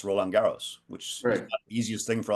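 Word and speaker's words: Roland-Garros: the French it's not the French open it's rolaros which easiest thing for a lot of people to pronounce and from what I've been told almost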